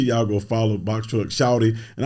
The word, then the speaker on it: Shawty: go follow box truck shouty and I gotta say it right it's box truck shouting so he properly saying it right box truck shop so y'all looking for this s-h-a-w-t-y shout it like we